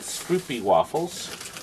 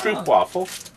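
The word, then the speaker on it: stroopwafel: Stroopy waffles. Pronounced Stroop waffle.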